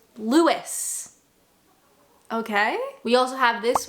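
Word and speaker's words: Lewes: To me, that looks like lose. Okay. I'm an English speaker that looks like lose. However, people tell me it is pronounced Lewis.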